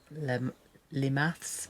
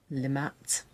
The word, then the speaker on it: Le Mathes: near an area called it looks like it's called Le Mathes but it actually is pronounced Le Matt um but if you